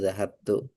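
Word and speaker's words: ذَهَبْتُ: saya pergi ke masjid, maka bacanya zahabtu. Ya, nggak mungkin zahabta, kenapa? Karena artinya saya aku pergi. Kalau kamu pergi baru zahabta.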